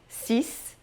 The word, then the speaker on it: six: 6. Não diga o X no final, tá? 6. O X aqui tem som de S, ouviu bem? Não de X, não é six como em inglês, é só 6.